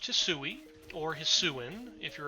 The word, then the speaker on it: Hisui: me at least once that maybe you would pronounce the region's name hassui but at the same time that also just